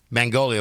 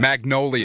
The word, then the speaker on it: Magnolia: me uh what did I say is it Mangolia what what what I say the name mongoid